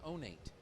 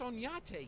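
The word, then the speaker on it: Oñate: And he says, "Well, you drive down that road and then you turn on Onate." Onate. How do you spell that? O-N-A-T-E. I said, "That's Onyate, you dumb Texan."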